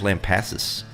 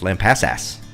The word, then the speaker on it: Lampasas: So I don't know why people don't pronounce Lampasas wrong. Or right. Everybody says Lampasas. It's Lampasas. yeah, don't pass us when you're Lampasas.